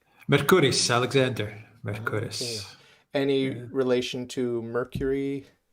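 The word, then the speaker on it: Mercouris: with the other Alex how how do you pronounce his name mercuris Alexander any relation to Mercury the god of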